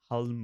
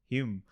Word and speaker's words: Hulme: I stayed in a hall called Hume Hall in Manchester, and I used to call it Hulme or some initially, and they were like, "Oh, you mean Hume?"